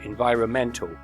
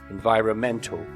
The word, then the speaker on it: environmental: the noun of course if we change to the adjective the stress also changes environmental environmental there's an adverb environmentally